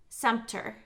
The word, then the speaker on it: Sumpter: there tika or tyka Sumpter so I know it's like Center okay remember in ride-along